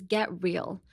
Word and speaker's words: get real: Next is get real. Get real. Get real. Get real. Forget the T. You can say get real, but that's too much emphasis on this T.